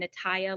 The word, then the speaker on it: Natalia: won't do it again nataya like papaya because I hate doing